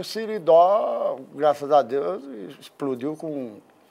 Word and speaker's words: Siridó: Não é Seridó, não. Siridó. A pronúncia é beleza.